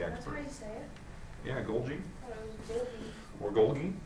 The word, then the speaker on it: Golgi: Yeah, Golgi I thought it was or Golgi, if you want to throw in an extra G, but Golgi. It's like a J. Yeah, it's like Golgi.